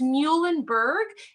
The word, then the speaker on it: Muhlenberg: So it's Muhlenberg. Easy way to remember that is our mascot is a mule, the animal.